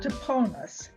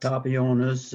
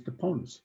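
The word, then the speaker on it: Toponas: Toponus, and it has been pronounced many ways, but that is the correct one. It's not Tapionis or something like that. It is Toponus.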